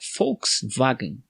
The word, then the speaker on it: Volkswagen: da empresa de volkswagen porém a pronúncia correta não é com exceção de ver volks seria com o som df sim efe seria fux wagner só que lá eles